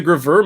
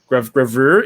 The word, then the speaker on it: gravure: Like she's a graveur model, if I'm pronouncing that correctly. Graveur? gravure. It's like a Japanese like super lewd style like model photography.